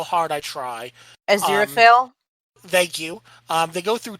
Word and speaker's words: Aziraphale: go through time with Crowley and I can't pronounce the angel's name no matter how hard I try. Aziraphale?